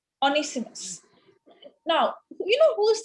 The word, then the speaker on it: Onesimus: You just gave me the pronunciation. Onesimus. Onesimus.